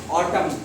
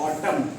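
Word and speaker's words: autumn: ऑटम ए यू टी एम। अब एन यहां पर साइलेंट है। एन को बोला नहीं जा रहा। ऑटम।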